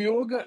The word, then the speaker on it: yoga: é um termo sânscrito dentro do sânscrito não existe a pronúncia do o aberto tá sempre é o o fechado então você vai encontrar na Índia sempre a pronúncia yoga e é um termo